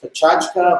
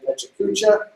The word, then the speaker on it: PechaKucha: So there's an interesting concept out there called, it's actually pronounced Pechachka, but I always say Pechakucha.